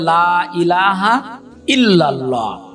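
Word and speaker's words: لا إله إلا الله: লা ইলাহা ইল্লাল্লাহু মুহাম্মাদুর রাসুলুল্লাহ। চলুন আমরা এবার ভেঙ্গে ভেঙ্গে পড়ি। লাম আলিফ জবরলা। এখানে তিন আলিফ টানতে হবে।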